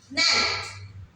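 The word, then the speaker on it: knelt: एन ई एल टी ने के एन इ एल टी ने इसमें हमारा जो के है ज्यादातर जब हम उसको प्रोनाउंस करते है तो वो साइलेंट हो जाता है होप आपको गोल्डन रूल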